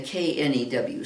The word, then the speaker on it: knew: because there's another new the n-e-w and the k-n-e-w sound the very same okay but blow in